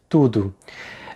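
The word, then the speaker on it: tudo: The first thing to pay attention to is the O at the end of the word tudu. It's pronounced as a short ooh sound.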